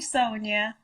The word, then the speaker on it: Sonja: It's actually Sonia because it's spelled with a J. That's why I'm actually Sonia with a J, so people will say it correctly.